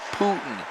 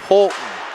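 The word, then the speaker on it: Poulton: It's not Putin, it's Polton. P-O-U-L-T-O-N.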